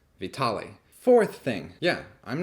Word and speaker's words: Vitaly: you'd like third thing i mispronounced his name i guess it's not vitally it's vitale fourth thing yeah i'm